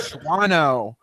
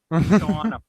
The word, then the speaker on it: Shawano: tornadoes that were near Schwano. Schwano. How do you say that? Schwano. Nope. That town that looks like Schwano. Shawano. Shawano. The second A is silent. It's Shawano.